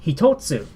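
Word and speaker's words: 一つ: But you add the tsu, suddenly it's hitotsu.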